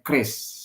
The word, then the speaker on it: QRIS: Banyak yang bertanya-tanya mengenai gimana cara bacanya, apakah QRIS atau KRIS atau apa. Nah, kita bacanya KRIS, sama dengan senjata nenek moyang kita yang telah digunakan sejak dahulu kala.